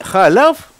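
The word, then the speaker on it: חָלָב: И халяв, молоко, пишется точно так же, как хелев.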